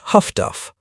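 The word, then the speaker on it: HF/DF: The other technological revolution arrived in an unassuming black box called HFDF, which sailors pronounced Huffduff.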